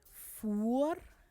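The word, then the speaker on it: voer: well but if maybe someone is pronouncing it and doesn't pronounce it right then you might interpret as something else than what the person actually means so fur is fire and for is food which is a wall and more which is one of those um screws it's a screw so a more is a screw and a mirror is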